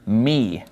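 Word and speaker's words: μ: and then after lambda we have the letter me me now me basically looks like a lowercase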